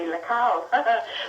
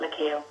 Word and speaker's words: Lecale: So really, in a way, the more correct pronunciation would be Lecale. But people just around these parts would call it Lecale.